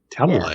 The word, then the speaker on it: Talalay: Talalay.